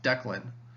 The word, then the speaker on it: Declan: So like my first name has 2 syllables, Declan. The stress is on one part and then the other part is unstressed. Dec has stress on it and then Len has less stress on it.